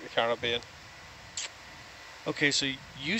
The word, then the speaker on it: Caribbean: I like the Caribbean. Okay, so you say Caribbean, and you're English, so is that the proper way to say it? Well, not Caribbean? There's no ribs in it.